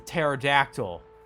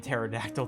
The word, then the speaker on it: pterodactyl: They forgot to pronounce the P and pterodactyl. Did God, you're not supposed to pronounce it.